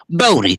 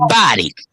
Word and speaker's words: Boddy: They're scattered too, but the family name is Body, Boddy. Some family members pronounce Bodie. We say Body.